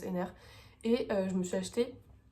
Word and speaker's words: Henner: Et cette semaine, je suis allée, comme vous avez pu le voir, au musée Jean-Jacques Henner, je pense que ça se prononce Henner, et je me suis